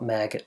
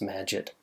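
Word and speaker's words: Magit: like to call it maggot because I think it's kind of cool but it's probably pronounced magic or something that rhymes with magic it is really nice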